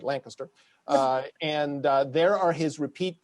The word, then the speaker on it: Lancaster: I keep pronouncing you like the city in Pennsylvania that my son went to college in, not Lancaster, but Lancaster.